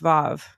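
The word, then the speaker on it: ו: So I mean, here's a little thing: the letter W mhm, in Hebrew mhm. is pronounced Vav.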